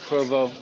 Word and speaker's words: Provo: You can't call it Pervo, my friend.